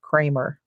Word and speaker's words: Kremer: Always called it Kramer, but when we were there, they said it's Dr. Kramer. Kremer. He pronounces it himself Kramer. So I guess he knows what his name is.